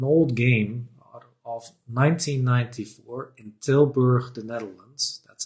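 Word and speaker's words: Tilburg: This was actually a game, an old game of 1994 in Tilber, the Netherlands. That's how you pronounce it.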